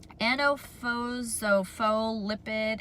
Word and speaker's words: antiphospholipid: Antiphospholipid antibody syndrome. Try and say that word. It is spelled ANTIPHOSPHOLIPID, antibody syndrome, APS.